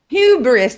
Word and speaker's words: hubris: Like hybrid or hubris? Yeah, hubris. That's how you say it in English.